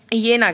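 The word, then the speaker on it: Jena: इसका प्रोनाउंसिएशन होता है ठीक येना ग्लास।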